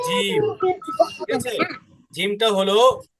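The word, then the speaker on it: جيم: দেখো জিমটা যখন উচ্চারণ করব, আমাদের জিহ্বার যে মাঝখানটা আছে মধ্যভাগ, ওইটা উপরের তালুর সাথে লাগবে।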